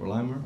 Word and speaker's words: Lima: Next, we have Mayor Dave Berger of Lima, Ohio. Thank you, Tom. Thanks for properly pronouncing our name.